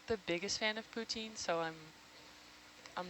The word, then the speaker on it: poutine: must be missing eating poutine? Poutine? I'm sorry, I'm American. How do you say it? Poutine. Poutine. I mean, it depends if you ask someone from Quebec.